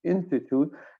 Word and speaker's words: in situ: It's pronounced in situ, and in situ means with whatever reactant that